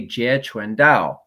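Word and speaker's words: 截拳道: was in the mainland because ji kundo is the cantonese so if you say ji kundo they're not really sure but if you say je chuen dao then they would know jia is the jeet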